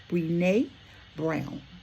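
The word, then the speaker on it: Brené Brown: And that quote comes from I believe her name is pronounced Bnee Bnee Brown.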